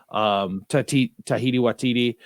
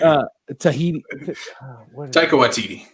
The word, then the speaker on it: Taika Waititi: I mean, we're seeing a lot of comedy directors like Edgar Wright, Tahiti Watiti.